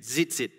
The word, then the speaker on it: tzitzit: I don't know how to pronounce it. Zit, T-Z-I-T-Z-I-T, zitzit.